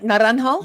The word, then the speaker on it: Naranjo: Naranho. I pronounced that right? Naranho. You're the only one so far that has in the race.